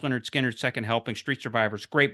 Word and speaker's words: Lynyrd Skynyrd: uh at their best pronounced Leonard Skinner second helping Street survivors